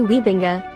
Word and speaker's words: Wybenga: will call him because it is the correct pronunciation is quite the opposite and yeah to be honest me calling him gary weebinga is also to annoy him right like i